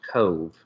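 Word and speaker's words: Cobh: in Ireland and apparently in Irish language they don't have a v so it's c o BH but it's pronounced Cove oh the Disney website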